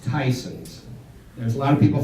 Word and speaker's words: Tyson's: people that don't know and it it is pronounced Tyson's there's a lot of people think it's Tess uh Matt would you stand up Matt is